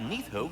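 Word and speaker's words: Níðhöggr: vital piece of the agency that's how you pronounce it I tend the branches up here while nitho chews the roots from below to prevent overgrown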